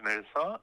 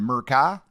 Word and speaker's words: Mirza: Yes, my name is Mirza, M-I-R-C-A. Mirca. That's a cool name. Now, how do you pronounce it? Mirka? Mirza. Mirza. Z. Oh, Yeah, Mirza.